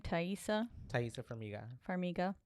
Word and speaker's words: Taissa Farmiga: Taissa Farmiga.